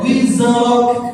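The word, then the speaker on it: وِزْرَكَ: Baik, sekali lagi qalqalahnya zani jangan dibaca qalqalah, yang dibaca wizrak. Jangan wizrak. Belakangnya jangan lupa kan belakangnya sama kaf. Jadi ada sifat hams wizrak.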